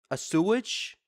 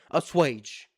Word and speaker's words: assuage: A sewage? How do you pronounce that? How do you pronounce that word? Hold on, let me look it real quick. Assuage. Alright. Thank you, Safari. Assuage.